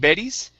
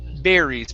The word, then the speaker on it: berries: to the word berries give me a good r here instead of betty's bear berries push your tongue down berries birdies good one more